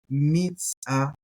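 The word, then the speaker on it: מִזַּעְפּוֹ: We got the dagesh in there, so we're going to pronounce it with a hard P sound. Maipo. Sorry. Mitzapo.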